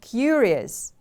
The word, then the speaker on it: curious: an adjective you are curious when you are interested in something and want to know more about it curious the stress is on the first syllable repeat after me please